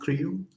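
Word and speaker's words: CRIU: I so I've been working on Creo for so it's pronounced CRU checkpoint restoring user space.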